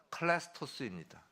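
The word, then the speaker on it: χρηστός: 친절하다는 헬라어로 클레스토스입니다. 클레스토스. 재밌죠? 뭐가 재밌냐고요? 크리스토와 발음이 똑같아요.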